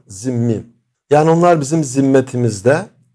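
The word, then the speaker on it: zimmî: de e zimmi deniliyor bazıları bunu yanlış olarak zımni şeklinde telaffuz ederler zimm veya Türkçe telaffuzla zimmi yani onlar bizim zimme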